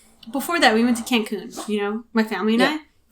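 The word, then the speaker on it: Cancún: And then the way you say Cancun is Cancun. Michael loves that. I'm pretty sure that's how you say it.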